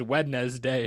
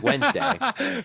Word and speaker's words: Wednesday: you how do you how do you say Wednesday Theo? Well, Wednesday everyone is there someone who says Wednesday differently than that? Oh, I'm just saying. I just feel like you might be the guy that says wedd day or some No, that's ridiculous. It's Wednesday.